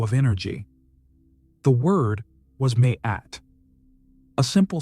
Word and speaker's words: Maat: As the practitioner breathed deeply, they pronounced MAAT slowly and drawn out. Ma-e. The vibration of the sound was meant to resonate in the chest, as if every letter echoed not just in the throat, but in every organ,